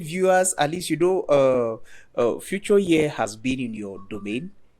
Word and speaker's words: Fuchor: Okay, the name is actually Fuchor.